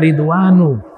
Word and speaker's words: Ridwan: Adapun ridwan tidak dibaca tanwin walaupun dari bahasa Arab. Kenapa? Karena dalam ilmu nahud terkena penyakit. Yang pertama ada tambahan alif dan nun. Dan ini adalah nama. dibacanya ridwanu. selebihnya itu bahasa asing. Jibril bukan bahasa Arab. Mikail, Jibrilu, Mikailu. Dibacanya begitu.